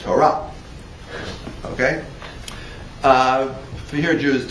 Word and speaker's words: Torah: Or if you follow an Ashkenazi mode of pronunciation, Ashkenazi. All right, I don't have time to deal with that. If you follow a European Jewish mode of pronunciation, Torah. Right. But the right way to say it is Torah.